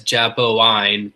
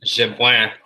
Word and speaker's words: Jabouin: I was ready to pronounce it Yves Jabouin, but I guess Jabouin is a slightly better pronunciation.